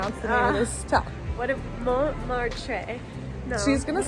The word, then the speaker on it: Montmartre: What if Montmartre? No. She's going to say it from now on. We're in the 9th arrondissement. Not the first T. Yeah, not the first T.